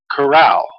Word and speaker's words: Carao: miraculous fruit called, I found out how to pronounce it, Carao.